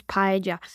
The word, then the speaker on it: paella: So the correct way to say this word is paella.